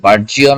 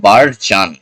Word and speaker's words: burgeon: Note carefully the pronunciation of this word. আচ্ছা, ওকে, বার্জিয়ন, বার্জান, আসলে বার্জিয়ন না, বার্জান, প্রনাউন্সিয়েশনটা বার্জান।